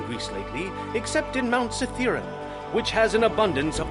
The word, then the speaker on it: Cithaeron: It's pronounced Cithaeron. Yeah, I guess my crazy botched pronunciation of Cytherian. It's not Rion, is it? It's just Run.